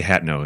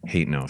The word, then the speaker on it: Hateno: And also I say Hatno instead of Hateno for Hatno You Village.